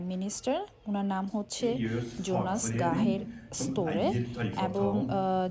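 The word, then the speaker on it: Gahr Støre: উনার নাম হচ্ছে জোনাস গাহের স্তরে এবং যদি নরয়েজিয়ান ভাষায় বলি সেক্ষেত্রে উচ্চারণটা হবে ঠিক গাহের স্তরে যেহেতু নরজিয়ান অ্যালফাবেটিক জ বা যে কোন উচ্চারণ নেই ওরা যেটাকে ইয়ে হিসেবে উচ্চারণ করে তো যাই হোক এটা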